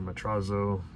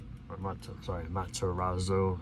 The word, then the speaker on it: Matarazzo: Welcome to the Dollhouse with Heather Matrazo, Matarazzo. I always pronounce her last name wrong.